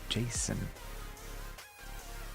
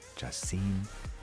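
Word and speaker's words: Jachin: Some people even pronounce it Jason. Others Jasin, Jakin, etc., etc. However you prefer to say it.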